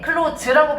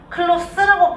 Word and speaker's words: close: 자, 똑같이 생겼는데 클로즈라고 발음하면 동사야. 닫다. close the door. 클로스라고 발음하면 형용사예요. 가까운.